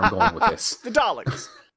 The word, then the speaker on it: Dalek: Now, for the longest time, I thought it was Darlek. Right. A lot of people spell it like garlic too. Or yeah, Darlic. Yeah. Right. Because to my ears and most Americans, we hear R's. We hear an R sound in your guys' of Dalek.